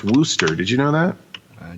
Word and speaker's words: Worcester: worship uh or wooster is actually it's actually pronounced wooster did you know that i do now okay